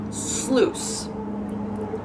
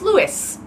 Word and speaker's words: sluice: in lots of fantasy novels I've noticed sluice sluice okay that's how you actually pronounce that word however in my head it's Lewis anyways I know that word is just really